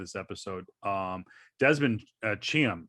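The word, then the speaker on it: Chiam: the end of this episode um desmond uh cham cham i think is how you say his name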